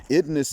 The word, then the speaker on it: IDNS: And for those who are hearing this for the first time, idness is my pronunciation of the acronym IDNS, intentionally dysfunctional negative stereotype.